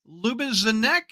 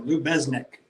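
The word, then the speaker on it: Lubeznik: Lubizanek. How do you say it? with the Z and then a Z after Lou Besnick.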